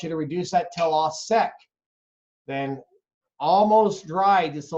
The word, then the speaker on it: au sec: And you're going to let that cook down to what we call au sec. Au sec is spelled A-U, next word S-E-C.